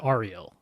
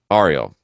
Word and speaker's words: Ariel: Whenever I've seen it, anyone with that name spelled that way, they've always said Ariel. Ariel.